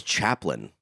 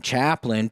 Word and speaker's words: Chaplain: What's Chaplain? Chaplain is Are you related to Charlie at all? No, but it used to be spelt that way. Used to be. Like Lin. Now it's Lain.